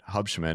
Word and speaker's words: Hubschmann: This week we're bringing you a unique one I would say with Kevin Hubshman. Is that how you pronounce it?